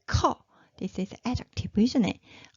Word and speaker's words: 커: 커. Did you hear that? It's a burst of air. So this one is 커, number 2. Okay, so 나 커, which means I am tall.